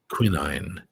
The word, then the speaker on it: quinine: Quinine. I love how you say quinine. That's the Irish version. Do you know what the Brits say?